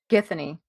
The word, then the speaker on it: Githany: The the girl that he attaches I can't How How do you pronounce her name? Githany. Yeah. Yeah, Githany.